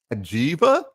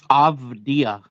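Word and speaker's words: Avdija: Is it Ajiva? Avdia. Avdia. That's it. Yeah. So it's pronounced Avdia very, very Eastern European.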